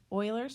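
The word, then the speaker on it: Euler: go we now have Oilers formula that's how you pronounce that and its faces plus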